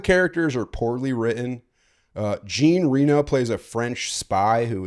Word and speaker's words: Jean Reno: I I feel like John Renault in that movie is trying to Is that how you say his name? I thought it was Jean Reno.